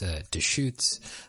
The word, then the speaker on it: Deustche: I realized in this episode that I totally butchered the pronunciation of the brewery for this beer. It's Deustche.